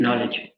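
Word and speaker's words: know: Right, नॉलेज। ऊपर वाला जो नो है इट इज the same as different है, राइट। नो और नॉलेज दोनों में के साइलेंट है।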